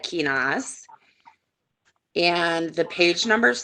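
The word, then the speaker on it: Kenaz: So yeah, I pronounce that Kinas.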